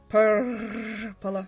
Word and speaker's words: Purrrplor: I'm going to attempt the rolling of the R's. Purrrplor.